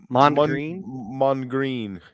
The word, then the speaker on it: Mondegreen: How do you pronounce this? Mondegreen? Mondegreen.